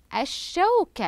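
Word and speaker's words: الشوكة: الشمسيه على شوكه تصبح الشوكه اذا اللام الشمسيه هنا باللون الاحمر اتى بعدها حرف الشين وهو حرف من حروف اللام الشمسيه واصبح مشددا ايضا لدي رمان عندما اقوم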